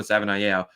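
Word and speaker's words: Savaiinaea: We've been corrected before on the pronunciation of that. I've Googled it, and that's how it says to pronounce it on the Arizona Wildcats website. So I'm pretty sure it's Jonah Savanaia, but I do really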